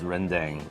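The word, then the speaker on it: rendang: I'm going to go in for some of this renang. Am I pronouncing that correctly?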